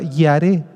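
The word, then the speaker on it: ירא: es la misma palabra yaré yaré y a r e con acento en la e y esta misma esta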